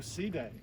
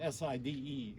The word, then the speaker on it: Side: the Mediterranean court at Sea day is spelled s-i-d-e in case you see it's not side but seating so this is extremely important